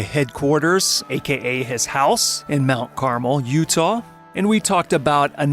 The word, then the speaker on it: Mount Carmel: But this is Mount Carmel.